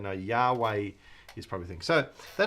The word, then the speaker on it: Yahweh: have this name so the best guess by people day is Yahweh all right it has been done as Jehovah and in other times people probably say no Yahweh is probably think so